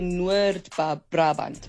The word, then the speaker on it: Noord-Brabant: And yeah, they usually say, in Dutch, it's actually Noord-Brabant. But yeah, in English, it's North Brabant.